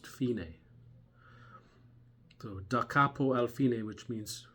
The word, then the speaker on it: fine: actually spelled like the word fine but it's pronounced finae so dacapo alfine which means from the beginning